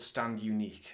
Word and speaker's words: Stand Uniqu3: not pronounced uh because the three is in place of the letter e I'm assuming it's not stand uni Q3 uh cuz that would be quite weird um but yeah so